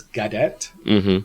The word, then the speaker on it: Cadet: my name my fet my surname is Cadet so but it's all like you but uh also it's it's a French name so there's the French pronunciation and so it's good